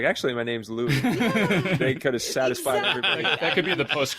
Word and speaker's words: Louis Armstrong: good point yeah because he did pronounce his own name lewis that's definitely true i mean i guess they leaned into the the record he put out in 1933 which was laughing louie maybe that that was it and i think that's that's the theory about where it came from um that it became louis armstrong but i i don't